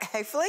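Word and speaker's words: Heffley: Chris, you're also voicing Frank, am I saying it Hayfley?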